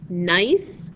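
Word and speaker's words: gneiss: got different minerals and different bands or layers nice is is this word right here that's the way you pronounce it nice nice is nicely banded is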